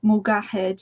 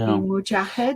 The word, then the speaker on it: Mujahed: in the English-speaking world, they pronounce the letters as G as G instead of J. So Mugahed, it would usually be Mujahed.